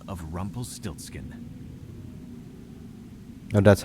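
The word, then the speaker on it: Rumpelstiltskin: to life, he gave it the name of Rumple Stiltskin. Oh, that's how you pronounce it.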